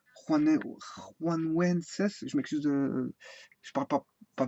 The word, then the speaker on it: Januenses: Ça s'écrit Januenses, mais ça, pour moi ça se dit Juanuenses.